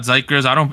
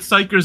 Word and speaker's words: xikers: So apparently it's not xikers. Apparently it's xikers with an S. Is the way you're supposed to pronounce this group based on the Korean.